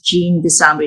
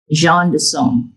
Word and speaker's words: Jean DeSombre: this is apropos, but my name is Jean DeSombre. That's how I would spell it and pronounce it. But in French, as Philip may know, it's Jean DeSombre, because it's a French last name together with Jean pronunciation as John, which is John equivalent in English.